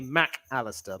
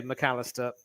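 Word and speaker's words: Mac Allister: name and I think to avoid the um Scottish slash British pronunciation they separate the mac and the Callister so it's normally Mac Aleister but I still say McAllister it's my uh I'm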